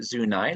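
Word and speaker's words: Zuni: was our western boundary and yes it is pronounced zunai locally and it went up there to 38th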